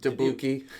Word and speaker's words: Dubuque: say his name right I was da you do buek I didn't know and it's Dubuque II yeah was John you